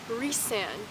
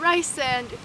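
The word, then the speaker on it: Rhysand: on the story I'm like reand reand not Rand reand I think it's so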